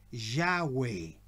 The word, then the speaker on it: Yahweh: Entonces, para pronunciar el tetragramatón, ellos comenzaron a pronunciar con las dos primeras letras de las vocales, ¿ya? Yahweh.